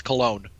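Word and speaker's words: Colón: a belief he's from he's ethnically Puerto Ricans it's Cologne okay in my defense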